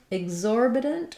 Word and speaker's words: exorbitant: In exorbitant, we have the stress on the second syllable, and the letters EX in this word are voiced.